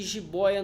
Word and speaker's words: jiboia: Herói não é OI e jiboia não é OI, mas não tá aberto? Então, mas é porque é paroxítona. Jiboia. Ó, jiboia. É paroxítona.